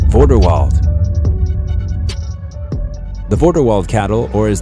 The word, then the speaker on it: Vorderwald: Vorderwald. The Vorderwald cattle, or as the Germans would call it, Vorderwalder Rind, is a dual-purpose cattle breed with a name that rhymes with Grindelwald.